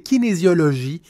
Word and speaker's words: kinésiologie: La prononciation, c'est kinésiologie et j'ai un doute que c'est plus de la kinésiologie appliquée.